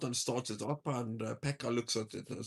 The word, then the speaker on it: Pekka: You have this Finnish wood lumberjack called Pekka, who comes back to the shop and hands Did in you his say his name was Pecker?